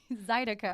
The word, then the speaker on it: Zydeco: course, last night, Zydeco Night at the WC Handy Blues and Barbecue Festival in Henderson.